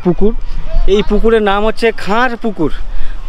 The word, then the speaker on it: খার পুকুর: এই পুকুরের নাম হচ্ছে খার পুকুর। খান নয়। কে এইচ এ এন খান এটা না।